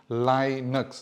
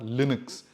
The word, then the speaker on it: Linux: And yes, it's pronounced Linux, not Linux. And that's according to the creator of Linux, right?